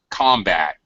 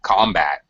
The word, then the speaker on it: combat: just a usually rule usually when it's a noun the first syllable gets stress when it's